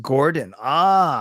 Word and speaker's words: gården: Jay says the garden in Djurgården is pronounced Gordon.